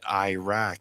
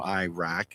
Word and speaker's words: Iraq: Well, it's like people say Iraq. It's not pronounced Iraq. Ask anybody from Iraq, and they'll say, I'm from Iraq.